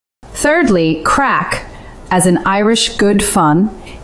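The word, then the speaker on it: craic: Thirdly, crack, as in Irish good fun, is not crake. It's crack, you fools.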